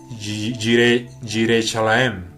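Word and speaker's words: Yerushalayim: Es importante mencionar que este Salem es el mismo lugar que posteriormente se llama Jerusalén, o en hebreo Yireshalaim. Es más o menos la pronunciación.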